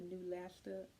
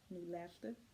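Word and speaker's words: Neulasta: told you they were giving me um the new laster on pro that's the one that's supposed to help bring your white blood cells up it is spelled n e u l a s t a new lester on pro o n p r o the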